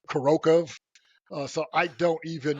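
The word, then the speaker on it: Kurakhove: I want to say Kurakov or Kurakov, but then I heard like a Russian native speaker call it Kurokov.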